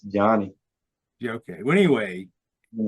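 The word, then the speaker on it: Johni: Is that how you pronounce his name? Is it I Johnny think or Jahani? it's Johnny Yeah, okay.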